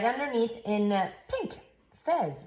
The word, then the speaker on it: Fez: Fez rhymes with Pez.